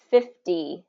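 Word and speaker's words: fifty: But native speakers have reduced it, and it becomes 50 with a D sound.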